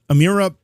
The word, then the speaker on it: Amirah: pronounce before is it amira am i doing that right you said it right yeah it rhymes with a miracle yeah well it's uh